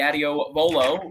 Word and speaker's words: Adios Volo: As we will go to race 11, the Adios Volo. Ray, are you happy enough? Did I pronounce it correctly? Yeah, you got it exactly. It's like the skate shoe.